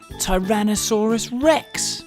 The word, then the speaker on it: Tyrannosaurus rex: most famous dinosaur ever Tyrannosaurus Rex how do you say that again ty ran no saw Russ Rex it's often called t-rex